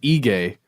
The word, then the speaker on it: Aegae: In a place called Aegae. And the internet says I should pronounce it that way.